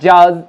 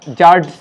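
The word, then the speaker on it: judge: Right pronunciation is handkerchief, not জাজ, জাজ, জাজ, ডি সাইলেন্ট, এখানেও ডি সাইলেন্ট তাই হেজ, এবং এটাও আগেই বলেছি যে ডি সাইলেন্ট তাই এটা স্যান্ডউইচ নয়, বলবো স্যান্ডউইচ।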